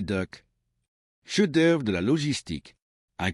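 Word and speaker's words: DUKW: Du coup, prononcé Duck, cheœuvre de la logistique, un camion à six roues motrices enloppés dans une coppe de bateau.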